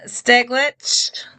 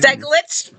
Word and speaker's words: Steglich: Today I have with me Adam Steglich. Yes, that's right. Steglich.